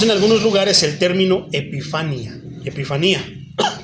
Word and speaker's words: epifanía: Refiriéndose al mismo evento, encontramos en algunos lugares el término epifanía, tiene acento en la I segunda, utilizado, por ejemplo, en